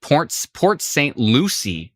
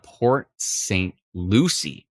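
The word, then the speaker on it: Port St. Lucie: a sec somebody actually pronounced this properly it's pronounced Port Saint Lucie ah Port Saint Lucie of course Katrina uh unknown on YouTube says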